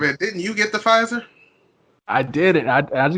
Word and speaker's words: Pfizer: like luxury rich yeah p on pfizer makes it sound royalty hey cause the p silent the silent p finds her i mean